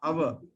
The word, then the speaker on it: hour: Okay, hour is because the H is silent, so hour, an hour.